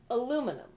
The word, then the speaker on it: aluminum: Because you've got aluminum, which is how it's said over here in the U.S.